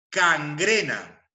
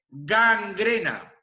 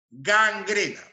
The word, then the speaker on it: gangrena: entendido luego tenemos acá la pronunciación inadecuada cangrena cangrena cuando lo adecuado es gangrena gangrena De acuerdo luego Tenemos